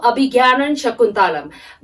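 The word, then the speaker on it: Abhijñānaśākuntalam: a little bit difficult in pronouncing the word Abhigyanan Shakuntalam. Okay, so A-B-H-I, so in your textbook, J N-A-N-A. So you have to pronounce J-N-A-N-A-S, Gyana. So Abhigyanan Shakuntalam.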